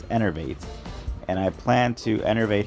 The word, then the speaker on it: Enervate: It's Enervate.